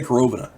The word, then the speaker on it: Korovina: corovina group corovina group I'm gonna say carovina because I'm pretty sure that's how it's pronounced my Russian isn't great